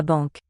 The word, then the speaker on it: banque: La banque. Banque. Single syllable.